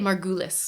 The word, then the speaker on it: Margulis: I usually say it Margulus.